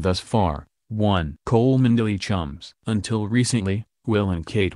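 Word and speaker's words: Cholmondeley: rockovich Marquis of coland because the Brits enjoy irritating the rest of the world that word is pronounced Chum two the falling out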